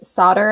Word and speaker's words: solder: to hear it and the narrator said solder as solder because it's spelled with an l but it's solder and he was like